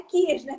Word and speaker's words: Kirchner: É Kirchner, tá certinho. Maravilha. Bem como se escreve.